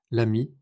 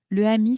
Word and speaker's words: l'ami: L'ami, l'école, l'hôtel. C'est pour rendre la prononciation plus facile. Le ami sonne bizarre mais l'ami ça coule très bien.